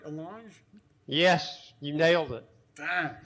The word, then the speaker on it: allonge: And did I pronounce that word right, allonge?